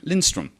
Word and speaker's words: Lindstrom: I can't get your surname wrong, can I? Lindstrom.